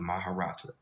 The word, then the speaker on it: Maharata: of large books collectively called the Maharata, pronounced Ma-ha-ra-ta, translates into the Inner Christos dispensations.